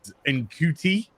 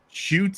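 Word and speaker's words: Ncuti: Who's going to be what I mispronounced as enti it's actually pronounced shy it's shy uh gatwa uh somebody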